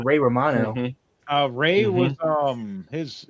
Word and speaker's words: Ray Romano: the next actor because he was going Ray Ramon, 68, TV actor from Everybody Loves Raymond. Oh, that's a good one. He's Manny the Mammoth from Ice Age and it's pronounced Ray Romano.